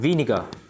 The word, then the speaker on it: vinegar: Rồi, chúng ta có giấm, vinegar. Giấm là danh từ không đếm được, rồi. Vinegar. R không phát âm.